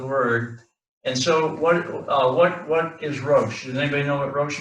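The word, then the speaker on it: ראש: that one, and then This is the aleph, aleph, Sheen. and the sheen, and so that's pronounced rosh.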